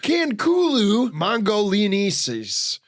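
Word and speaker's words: Khankhuuluu mongoliensis: It's pronounced Canulu Mongolianis, meaning dragon prince of Mongolia.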